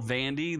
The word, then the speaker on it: Vandy: exactly anything that could be called Vandy that rhymes with candy they have a slogan